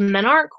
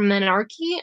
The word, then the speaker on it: menarche: menstruation the very beginning is called menarche or menarchy I've heard it pronounced both ways but as long as